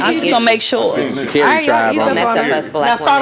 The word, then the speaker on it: Sha'Carri: How you say it? Sha'Carri? It's Sha'Carri. She said it's Sha'Carri.